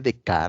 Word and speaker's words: Descartes: pensador llamado René dec René dec se escribe Descartes y fue un pensador